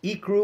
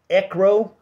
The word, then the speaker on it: ICRO: This product is pronounced ICRO or ECRO.